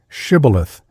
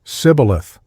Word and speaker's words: shibboleth: The Ephraimites were as unable to frame the sound of sh as Englishmen are to pronounce the Scotch och. The nearest they could come to the pronunciation was sibboleth.